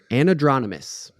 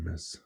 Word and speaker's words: anadromous: And now Anadromous. That's how you say it. Anadromous. Anadromous.